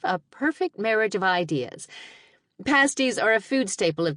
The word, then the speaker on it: pasties: Wait, what are pasties? Taylor asked me. She was from Toledo, Ohio. She could tell you all about Ponchki, but not a thing about pasties. Pasties. Rhymes with nasty.